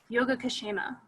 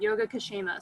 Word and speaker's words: Yogakshema: It's from the Vedas, and the word is Yogakshema. It's all one word, Yogakshema. So it's spelled like yoga and then K-S-H-E-M-A, Yogakshema.